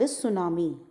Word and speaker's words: tsunami: The T is silent. That is why we call it tsunami.